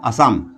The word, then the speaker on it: Assam: इज the capital of असम Dispur इसकी राजधानी असम की असाम लि लिखा होता है उच्चारण में लेकिन असम के नाम से हिंदी में दिखाया गया है तो दिसपुर इज द